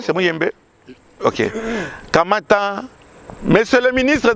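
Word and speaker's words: Muyembe: C'est bien, j'ai bien prononcé, c'est Mouyembe.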